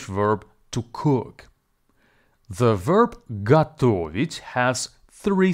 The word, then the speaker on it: готовить: to cook the verb gato which has three syllables go vit and the stress falls on the second syllable please be advised that the first syllable go is actually pronounced as ga now listen again and